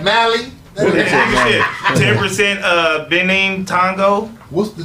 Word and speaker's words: Mali: Mali. Really? Okay. All right. Mali.